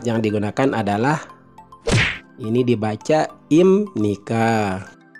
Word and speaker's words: 입니까: digunakan adalah ini dibaca imnika jadi dalam aturan membaca jika konsumen akhir B Hai bertemu dengan niion maka huruf Yap itu berubah cara pelafalannya seperti huruf M jadi hypnic adipraja imnika